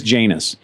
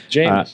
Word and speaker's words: Janus: Well, I would like to tell you that he's a gentleman because we pronounced it wrong 15 times. And he didn't say anything. So it is Janus. Janus.